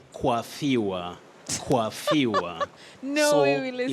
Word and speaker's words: coiffure: Yes, that is a loan word in English. It's a loan word in English. Loan words are words which are borrowed from other languages and used in their original form. But in English pronunciation, sometimes you may find some slight difference from what the French speakers may use. But in this case, in English, you say coiffure.